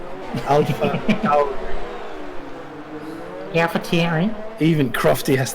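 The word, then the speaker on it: AlphaTauri: Soon to be Alpha Tori. He's No, not that Alpha level. Tauri. Tauri. Alpha Tauri.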